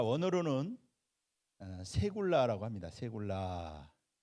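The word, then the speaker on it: סגולה: 세굴라. 자, 이 세굴라라고 하는 단어는 세굴라라고 읽죠. 세굴라.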